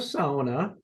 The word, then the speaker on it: sauna: got a shot at helping SAA be pronounced SAA here in the US I think hey folks